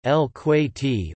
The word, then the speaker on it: الكويت: Kuwait, listen, Arabic, Al-Kuwait, Al-Kuwait, Gulf Arabic pronunciation, El-Kuwaiti or El-Kuwaiti, officially the state of Kuwait Arabic, DW Al-Kuwait Dalit Al-Kuwait, is a country in Western Asia.